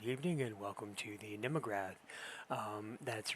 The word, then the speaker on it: Mnemograph: And welcome to the Nemograph. Um, that's right. I'm pronouncing that with the N and not the N. So, the Nemograph instead of the memograph.